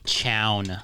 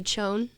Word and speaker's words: Chown: Chance, how do you say my last name? Chown. Yeah, that's right. That's not what everybody hears at the end of our episodes, though. What did they hear? Chone From me?